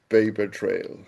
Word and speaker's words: pAIpertrail: What exactly is paper trail? Paper trail. Okay. Um, and that's spelled with a AI as opposed to just p a p r. It's p a i p e r.